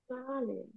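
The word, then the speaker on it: Zahlen: আর এই যে এইস যদি কোনো শব্দের মাঝখানে থাকে, ওটার উচ্চারণ আমরা আমরা ইংরেজিতে যেভাবে এইস একদম হা টাইপের উচ্চারণ করি, ওই উচ্চারণ উজ্জ্ব থাকবে, করা যাবে না। হ্যাঁ, সালেন, সালেন, এইচ এর উচ্চারণ নাই।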